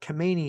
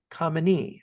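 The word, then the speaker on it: Khamenei: Now the current Ayatollah, he's not Kmeni, he's Kami, I think is how you say it.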